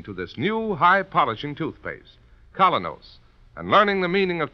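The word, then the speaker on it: Kolynos: is start cleaning your teeth with the new Colonos, a high-polishing toothpaste.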